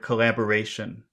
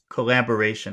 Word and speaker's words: collaboration: Which syllable has the emphasis? Collaboration. Ration. Yeah, I agree with you, but there are some other syllables that are getting a lot of attention. Okay. Yeah. Secondary. This is Mhm. the primary and the secondary.